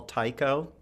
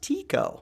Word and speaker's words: Tycho: Astronomer that they often call Tycho. Uh-huh. Okay, and some people say no, no, no, it's not pronounced Tycho. It's pronounced Tico.